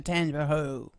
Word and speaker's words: Tangipahoa: Your buddy, the governor, was in town last night, and he supports the move to Tangipahoa.